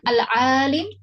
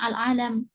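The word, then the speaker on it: العالِم: Kemudian al-alim, apa harokatnya al-alim? Ya. Ini alhamdulillah lamnya sudah dikasih harokat kasroh. Ya, maka kita jangan membacanya al-alam.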